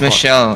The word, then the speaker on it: Michel: It's Michelle, as like I said. It's Michelle. Okay, Michelle. Yeah. All right. Must be French. There you go. French pronunciation.